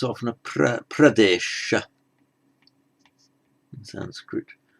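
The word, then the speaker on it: प्रदेश: um you have uttar pradesh literally the northern province sorry say pradesh because that's how it's pronounced in modern hindi it sounds good the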